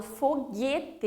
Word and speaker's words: foguete: Então, eu não falo foguete. Eu não pronuncio o U separadamente. Falo foguete, então ele faz um único som.